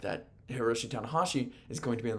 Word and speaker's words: Hiroshi Tanahashi: It is Heromu Takahashi and Hiroshi Tanahashi. That's the difference.